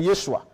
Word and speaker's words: Yeshua: la langue hébraïque la langue originale le nom prononcé par l'ange c'est Yeshua et si les Grecs n'ont pas pu le